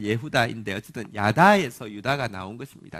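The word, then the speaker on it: יהודה: 정확한 발음은 예후다인데 어쨌든 야다에서 유다가 나온 것입니다.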